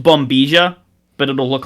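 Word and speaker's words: bombilla: a straw it's going to say like it's pronounced bomia but it'll look like it's bombella um and a pack and a packet of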